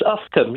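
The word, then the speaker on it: Uffculme: How do you pronounce this one, Mike? It's Ufcombe. You got it right last time, James. Ufcombe, did I?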